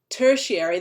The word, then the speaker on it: tertiary: Primary, secondary, tertiary. This means third. It always kind of throws people because it looks like it's spelt strained. Tertiary.